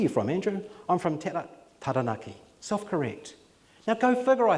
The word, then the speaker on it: Taranaki: Because you were saying Taranaki, it's Taranaki.